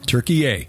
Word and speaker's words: Türkiye: The people of Turkey now say they would prefer Turkey, yay. Just think Thanksgiving dinner, turkey, yay. And, but don't... Don't spell it that way. Don't spell it that way. You have to have a little umlaut over the U, yes.